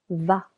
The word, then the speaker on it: vas: Je vais tu vas silent s va.